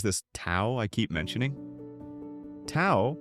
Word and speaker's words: Tao: Tao, pronounced Dao, like wow, essentially means the way.